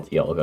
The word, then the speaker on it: Dialga: How do you spell Dialga again? Dialga. Dia and then Luga.